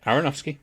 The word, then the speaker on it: Aronofsky: Yes, and the what's in the box was the 2008 Darren Aronofsky. Is that how you pronounce it? Aronofsky? Yeah, Aronofsky.